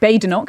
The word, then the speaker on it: Badenoch: So Kemi Badenoch it is then. That might be your aim for today. But look, I think what Kemi Badenoch is trying to suggest today with her bold,